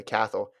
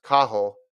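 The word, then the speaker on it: Cathal: said my fellow irishman kathal dennehy which is what you and i say catholic is pronounced kahol is far too polite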